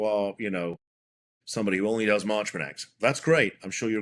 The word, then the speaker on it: Marchman Act: I believe this is pronounced the Marchman Act, Yes.